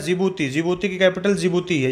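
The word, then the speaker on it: Djibouti: है ज्योति ज्योति hospital जिबूती यहां पर भी दी साइलेंट है फिर इसके बाद आपका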